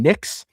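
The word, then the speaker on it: Nicksch: Peyton Nix, which is not spelled N-I-X. It's N-I-K-S-C-H, but it is pronounced that way.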